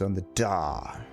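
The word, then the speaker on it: Ul'dah: of defiance her name ulda the pronunciation is on the dar even with the coming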